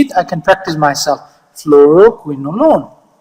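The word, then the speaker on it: fluoroquinolone: I can practice myself floroquin alone not alone a l o n e not a l o n e alone like you are alone it's alone fluoro alone easy once you break it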